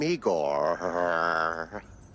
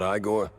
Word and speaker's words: Igor: I'm Igor. Igor? Not Igore.